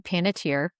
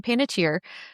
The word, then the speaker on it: Panettiere: Heroes in Nashville star Hayden Panettiere, which that's how she pronounces it. Apparently that's Oh, not the correct pronunciation, and her grandfather hated that she changed it to that pronunciation.